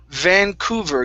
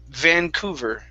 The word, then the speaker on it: Vancouver: good good next is vancouver give me good v's here vancouver vancouver good good good your first v was nice okay um pronounce that second v just a little bit stronger vancouver okay all right good